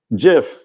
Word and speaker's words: GIF: a little campaign and it is a soft G folks I'm sorry so um Jif yes the letter G